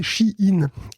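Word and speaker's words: Shein: me dit dans les commentaires que ça se prononce ch in et je le remercie beaucoup parce qu'on va encore en parler dans cet épisode j' encore bien entendu à longueard d'épisode dit Shain Shain Shain parce que c'est pas Mo vous l'avez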